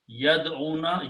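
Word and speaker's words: يدعون: Yad'una, yad, this wow, there are two vows, so we don't pronounce one vow, we drop.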